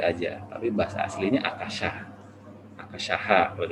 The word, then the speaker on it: akasha: Akashaha kalau dibacanya seperti ini.